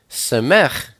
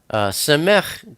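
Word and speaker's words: סמך: Samech is the number 60, and it's pronounced S, like Samuel.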